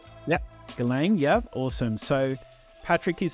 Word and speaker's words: Galang: Is it pronounced Galang? Yep. Galang, yeah, awesome.